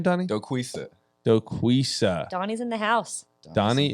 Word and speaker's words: Doquisa: how do you say your last name donnie dokusa donnie's in the house donnie is in the